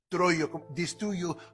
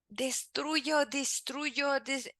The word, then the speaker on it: destruyo: So he's having a little trouble with this sound E. Since he speaks English normally, he's not used to that sound. So now he's having trouble here when he's trying to pronounce this word.